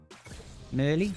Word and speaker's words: Merly: Merly rhymes with pearly.